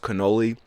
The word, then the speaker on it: cannoli: Um but she was right, it is pronounced cannoli.